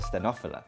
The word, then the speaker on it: stenophylla: How do you pronounce stenophylla or phylla or stenophylla? It's Coffea stenophylla.